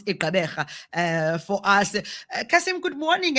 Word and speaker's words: Gqeberha: And by the way, Gqeberha, yeah, to a certain extent, I can pronounce it. Yes. I'm so impressed. But there's that, that click there.